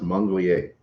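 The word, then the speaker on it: manglier: It's pronounced Monglier.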